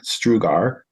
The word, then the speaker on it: Strugar: to get that but my last name is spelled St u a r strugar and the next few